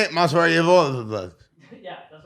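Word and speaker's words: Movsar Evloev: Mazavar Evlov.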